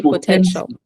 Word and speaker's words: potential: in the Box de potential very good potential say potential potential yes I'm trying um